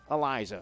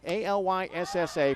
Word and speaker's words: Alyssa: the girl pronounced it Eliza. So the same spelling, A-L-Y-S-S-A, pronounced Alyssa, Elisa, and Eliza.